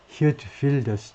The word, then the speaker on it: 히어트 빌더스: 화란어 발음으로는 뭐 히어트 빌더스 정도 된다는데 이게 H 정도고 이건 뭐 F나 V 정도 소리로 들린다고 그러는데 그래서 히어트 빌더스처럼 헝가리 총리 그 다음에 화란의 극우 지도자 히어트 빌더스처럼 Mr.